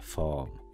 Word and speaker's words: form: Passenger locator form. Form. Starajmy się tego R nie wymawiać.